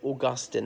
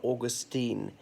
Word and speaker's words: Augustine: Agustin's Church in Hammersmith and blah blah blah so notices pronounced said Augustine not Augustine even ends with an e but anyway the the